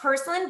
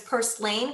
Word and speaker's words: purslane: believe in so the last thing I it's pronounced porcelain but a lot of people actually pronounce it as purslane because of the way that it's spelled p-u-r-s-l-a-n-e purslane it's actually commonly known as a weed